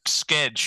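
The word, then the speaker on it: Skjei: that Brady Shay who spells his name SK SK EJ I think so it's a cool I I like how they pronounce skedge yeah right yeah but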